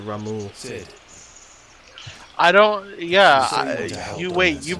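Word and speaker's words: Ramuh: That's all used to calling him Rama, and yet it's that they pronounce it Ramu.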